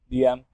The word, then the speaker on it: DM: producer name was DM DM but pronounced like damn like damn but DM